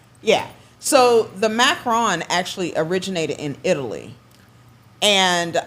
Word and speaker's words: macaron: Now do they call it macarons or macaroons? Macaron.